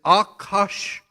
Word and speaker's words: Ahasuerus: Now, the Persian king here in verse 1 pronounced Ahasuerus, or however you want to pronounce it. I don't know where they got that word because the Hebrew pronunciation is Akashwerosh.